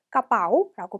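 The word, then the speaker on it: กระเป๋า: 그래서 아직까지도 발음이 안 되시는 분들은 그냥 여기 러러 없다고 생각하고 읽어보세요. 그러면 까빠오라고 발음할 수 있겠죠?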